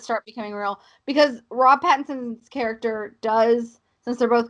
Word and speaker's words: Pattinson: Sorry, I mispronounced his name. Robert Pattinson.